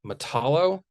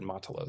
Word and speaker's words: Matalo: yesterday we showed uh matalo or is it pronounced I think Alex pronounced it matala so we'll go with that from 1970.